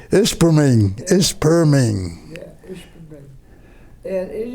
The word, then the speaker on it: Ishpeming: Isping, that's the way you pronounce it. Ishpeming. Ishpeming, Ishpeming.